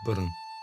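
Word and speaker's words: Burrane: The colle is buried in nearby Buran cemetery or as locals Buran cemetery pronounced Buran.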